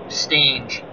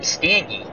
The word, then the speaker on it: Stange: As Alvin says, your new pronunciation of his name might have been good karma for Stange. Oh, thanks to you, Alvin. I was calling him Stangy.